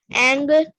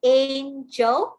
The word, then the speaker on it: angle: Because according to our soft G rule, when G is followed by E, it says J. So all of you say this is an angel and not angle. Okay, that's why it's spelled as G-L is read as angle. Okay, and that's the hard G sound.